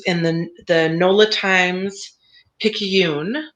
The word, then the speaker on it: Picayune: the the nola times picayune is that how you pronounce it picky picky yoon yeah yeah um so this